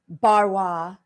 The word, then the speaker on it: Barrois: into the email and i read it jeffrey barwa you first stab at it you got it